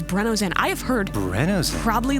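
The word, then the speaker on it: BRENNZEN: contribution go ahead sorry correct way to pronounce BR enzen is breno Zen I have heard Bren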